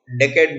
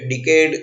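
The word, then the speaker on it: decade: फिर 10 साल की अवधि को डेकेड बोलते हैं। कई लोग यहाँ पे डिकेड करके प्रोनाउंसिएशन करते हैं, इसका सही प्रोनाउंसिएशन मैंने बाजू में दिया है, डेकेड।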